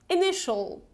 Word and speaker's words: initial: Initial, initial. So we don't pronounce it like initial, okay? It's initial, initial.